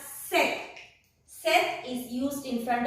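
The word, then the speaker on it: cette: C-E-T-T-E, pronounced as set.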